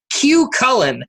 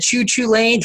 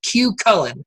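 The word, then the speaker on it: Cú Chulainn: point is and we found out the correct pronunciation because we asked is the big gravity group wooden coaster cue Cullen we've said choo choo lanes for quite some time on this show and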